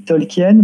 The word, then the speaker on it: Tolkien: que depuis le début, je dis Tolkien, par habitude, parce que c'est comme ça que Christopher, Bailey, Adam et Rachel Tolkien prononcent leur nom.